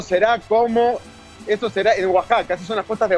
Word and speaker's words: Oaxaca: Que los argentinos le decimos Oaxaca. Claro, y es de Oaxaca. Se pronuncia Oaxaca.